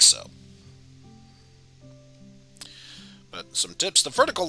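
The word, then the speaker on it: そ: up a single syllable you pronounce this one as so so basically the same thing as uh sewing some clothing that you want to mend up or reaping what you sew so but yes let's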